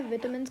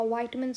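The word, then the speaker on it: vitamins: का काम होता है विटामिन्स को स्टोर करना, भी लिवर का काम होता है। ठीक है, कि बहुत सारे विटामिन्स की, या वाइटमिन्स आप बोल सकते हो, both are right pronunciations of इट, दोनों की स्टोरेज होती है लिवर के अंदर।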